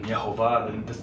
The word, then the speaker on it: Yehovah: So that's why you can see the way I pronounce the name, even Yehovah, the Hebrew pronunciation of Jehovah.